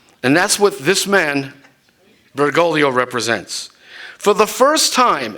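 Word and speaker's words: Bergoglio: Ral has pointed out that bergolo rhymes with the Italian word for Pride orolo I don't think it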